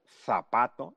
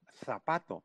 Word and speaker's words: zapato: Pero en América Latina no decimos zapato, decimos zapato, pronunciamos con S.